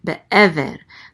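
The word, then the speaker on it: בְּעֵבֶר: Be'ever. The accent mark is on this syllable, so it's be'ever.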